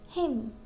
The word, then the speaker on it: hymn: Means letter N is silent when it comes at the end of the word and before letter M.